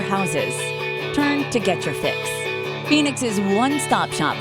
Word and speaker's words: PHX: loving Phoenix let's get your PHX pronounced fix get it play on words and it works for